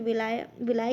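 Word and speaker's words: villi: Small intestine में से विलाई कहते हैं, या विली कहो या विलाई कहो, ठीक है। लोगों को प्रोनाउंसिएशन हिंदी मीडियम में तो इसे विली कहते हैं, तो कुछ लोग इसे विलाई भी कहते हैं, ठीक है, जैसा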